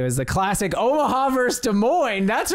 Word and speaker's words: Des Moines: Des Moines have nothing it's got It's actually pronounced Des Moines you Des Moines that's how I say it you don't get